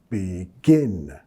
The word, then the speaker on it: begin: Y nota la acentuación begin. Estamos acentuando la segunda sílaba. También no es begin, más un sonido e, que no existe en español.